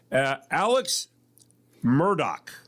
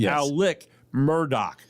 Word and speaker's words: Alex Murdaugh: Alex Murdoch. Or Alec Murdoch. Oh, Murdoch. Yes. The South Carolina guy. Yeah, it's Alec. Even though it's spelled Alex, it's Alec Murdoch.